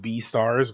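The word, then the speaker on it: Beastars: It's pronounced B stars, but it's but they're combining beast and stars, like I said.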